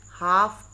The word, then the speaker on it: half: HALF, हाफ, PAST, past, हाफ past. हाफ में से L silent होगा।